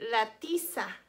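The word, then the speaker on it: tiza: piece of chalk and in spanish we say latissa latissa lettisa rhymes with pizza that's how a lot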